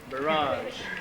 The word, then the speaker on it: Barrage: with some fantastic fiddling is barrage or barrage or however you want to be pronounced barrage as in garage when I saw the